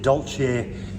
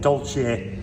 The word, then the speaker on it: Dolce: I have always pronounced it Dolce. If you disagree, let me know in the comments. But for now, I'm calling it Dolce, which means sweet or dessert, if you happen to be in Italy.